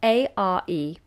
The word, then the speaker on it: are: learning nice open vowel notice that we don't roll into the r sound at all the letter R so we don't do r it's just an open long vowel we are here and